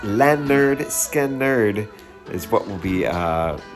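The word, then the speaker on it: Lynyrd Skynyrd: Uh, episode 21 next Monday, pronounced lerd skerd is what we'll be uh talking about for the next episode.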